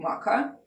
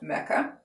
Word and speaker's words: Makkah: journey therefore also unbounded by the distance between Makkah and Jerusalem and I'm pronounced in Makkah it could be also pronounced Mecca but if you google it you would get